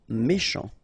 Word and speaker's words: méchant: Méchant. Final T not pronounced. Then C-H, sh, chant, méchant.